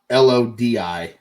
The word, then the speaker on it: Lodi: his name is Loki I may be totally mispronouncing his name um it is Loki but it's l-o-w space k-i I've got l-o-d-i Lodi Lodi all right because this guy was